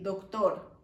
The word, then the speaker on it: doctor: Algunas palabras que terminan en OR, like doctor, same in Spanish, but we say doctor. ¿Sí? And if it's, that one is man. But if it's a woman, we say doctora.